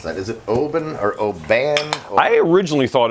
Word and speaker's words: Oban: alveus anyway he'll be we love you he pronounced it open open and he's from that sort of country